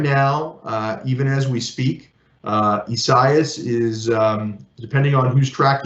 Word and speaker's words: Isaias: Some people say Isaiah, some people say other things. The Weather Center sent me a note that says Isaias, so I must stick with that.